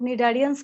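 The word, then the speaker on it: Cnidaria: दोनों किससे आप, और दोनों में ही सी साइलेंट है। जैसे साइलेंट टाटा बोलते हैं तो आता है, बट निडारियंस में नहीं आता, निडारिया बोलते हैं।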